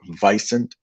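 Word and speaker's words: wisent: I know it starts with a W, but it's actually pronounced vicent, almost like bison.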